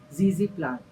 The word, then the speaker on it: ZZ plant: It is nothing but our zezy plant.